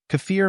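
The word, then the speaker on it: kefir: English it is spelled as kfir the correct pronunciation of this word is cfir cafir means a fermented milk drink similar to Yogurt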